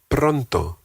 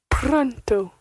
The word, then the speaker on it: pronto: The word for soon in Spanish is pronto. Pronto. Pronto. Pronto. Pronto. Pronto. And again, the T is a very soft T.